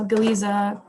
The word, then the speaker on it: Galiza: issues in Galicia and we have galiza here and here that's how it's pronounced but just to make